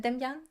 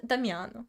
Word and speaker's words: Damian: Damian. Right. Finally. And this not Not Damiano.